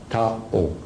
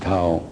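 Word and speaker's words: Thao: T-H-A-O, Tao. That's her name. You can pronounce whatever you want, but I pronounce it Tao.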